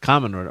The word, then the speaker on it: Kamen Rider: Um Without Godzilla, we wouldn't have Gamera or Ultraman or Kamen Rider, pronounced Common Rider, or Super Sentai or the Metal Heroes of Project Red.